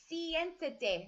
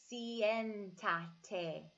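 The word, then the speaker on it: siéntate: the nth that day sientate notice how I'm pronouncing each vowel of that word CN da Tay sientate so I'm gonna say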